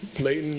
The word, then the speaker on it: Layton: And we've truly learned to appreciate Leighton as a little piece of heaven as well, especially when you pronounce it without the T. Leighton, mountains, and and other things.